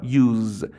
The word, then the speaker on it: use: ببین اس رو اس تلفظ نمی کنم. یعنی نمیگم use. میگم use. اس رو ز تلفظ میکنم.